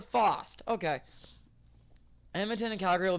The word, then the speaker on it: Fast: I always thought it was fast, because in the game, it's pronounced fast. So it's Jasper Faust.